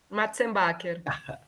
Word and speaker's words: Matzenbacher: Ô, eu tenho uma curiosidade aqui, eu não consigo pronunciar seu nome, desculpa aí, mas você pode falar para a gente aí? Matzenbacher.